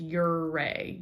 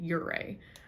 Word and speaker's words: Ouray: in uray uray um a local told me it's pronounced uray uray um so we was